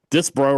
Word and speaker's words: Disbro: Will Disbro, who says later his name is pronounced that way, Disbro right here.